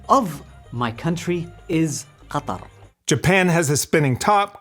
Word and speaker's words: Qatar: the official pronunciation of my country is Qatar.